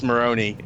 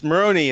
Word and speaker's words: Marrone: So it's Marrone is the right way to say my last That's name.